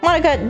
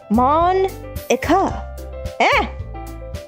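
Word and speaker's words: Monika: Monka, that's not how you say my name.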